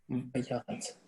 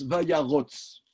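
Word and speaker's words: וַיָּרָץ: Alors, pour une raison grammaticale que je suis incapable de vous expliquer, on prononce, même les séfarades bontins, même les séfarades militants, prononcent Vayarotz. Ici, le deuxième kamat se prononce O, pour une raison que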